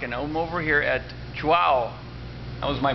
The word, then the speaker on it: Chuao: bit before 5:00 and I'm over here at chah how was my pronunciation of that perfect perfect this is toas